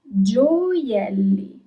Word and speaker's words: gioielli: You pronounce all the letters. Giocatore. Okay? Jewels. Gioielli. Gioielli.